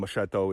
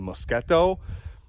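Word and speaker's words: moschetto: said I believe uh what I've been calling machetto is actually mosketto Carino I've heard said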